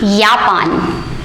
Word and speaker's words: Japan: japan or japan but in german we always pronounce the j as year so this word will be yapan the j will be pronounced as year you are spelling a